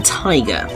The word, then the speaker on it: Tigre: heard is called Swinging Tiger. And we've now got his full name, which is Furio Tigre. I mean, you could pronounce it Tiger, but I feel Tigre feels a little bit more exotic.